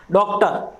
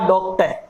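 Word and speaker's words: doctor: अर्थात र साउंड के बाद यदि कोई वाउल साउंड आ रही है तभी हम र को प्रोनाउंस करेंगे, अन्यथा र साउंड को प्रोनाउंस नहीं करेंगे। देखिए डॉक्टर, ये हम गलत बोलते हैं, ये होगा डॉक्टर, ये एकदम करेक्ट है।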